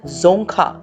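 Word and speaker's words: Dzongkha: called Bhutani they speak जोखा language over here D E silent and the currency that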